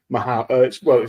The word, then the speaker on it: Mahou: Mahou. It's called Mao, but it's spelled Mahu. But indeed, the back post, nodded across.